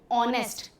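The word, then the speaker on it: honest: Consonant letter लेकिन sound ऑनेस्ट। H silent होता है।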